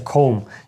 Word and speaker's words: comb: оце в нас є слово com воно пишеться коb да а воно читається ком є у нас це слово ко Так я поміняю є у нас ко транскрипція буде ось така comeм ця остання буква не читається так і це буде